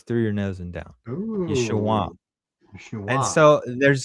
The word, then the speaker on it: Yeshua: But the proper way to say it at that time is a nasal back sound, and it's a downward. So Yeshua. It goes through your nose and down. Yeshua.